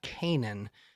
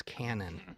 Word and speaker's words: Cannon: Oh, one of the main things I learned at NAMA was that Kyle's last name is not Canaan, it's Cannon.